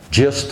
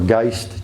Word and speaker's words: Gist: where Washington and Christopher gist or gist gist I believe is proper pronunciation made a homemade raft